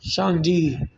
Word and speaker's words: Shangdi: It's pronounced Shang. Shangdi.